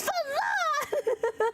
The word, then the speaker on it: Fain: Get famous enough that everyone gets my name right. Fain someone's going to say say it wrong and I'm like it's Fain.